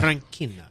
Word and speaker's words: Tranchina: Tranchina.